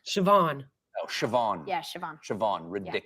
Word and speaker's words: Siobhan: How do you think that's pronounced? Siobhan.